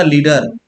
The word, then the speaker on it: lead: लीड का मतलब क्या होता है भाई, जिससे बना लीडर, नेतृत्व करना, ठीक है, ये लीडर हो गया, ठीक है, इसको लीड पढ़ते हैं। और ये जो है लेड, ठीक है, दोनों का प्रोनाउंसिएशन डिफरेंट है, ठीक है।